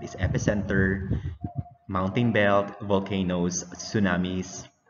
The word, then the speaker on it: tsunami: And we will also discuss earthquake and what is epicenter, mountain belt, volcanoes, tsunamis. It's pronounced, you will pronounce that as tsunami, okay, not tsunami.